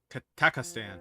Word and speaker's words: Kazakhstan: Kazakhstan. Man, that's so much easier. What the hell was I doing? I think I had an extra syllable.